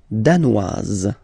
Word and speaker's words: danoise: Le Danemark, danois, danoise. Okay, insist on that. Danois, don't pronounce the final S. Danoise, here you pronounce it.